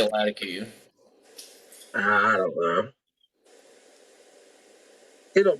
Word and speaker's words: Latakia: He said it's technically should be pronounced Latakia. So that's probably the way it's meant to be. I say Latakia.